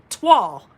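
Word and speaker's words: toile: So I Googled it and I typed it in and I said, pronounce T-O-I-L-E for me. And it was like, twall.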